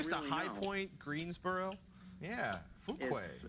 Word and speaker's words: Fuquay: Fuquay's Arena, North Carolina. How do you say that? Again? Fuquay Arena. Fuquay's Arena.